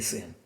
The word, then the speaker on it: seno: Sen, mas se lê sen. Se lê seno.